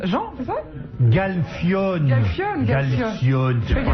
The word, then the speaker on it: Galfione: lève son t-shirt, là, on pourrait jouer Qui au Galcione. Jean, c'est ça? Galfione.